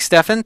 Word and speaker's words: Stephan: possible you never know Michael Stephan says it's pronounced like Stefan thank you Michael we'll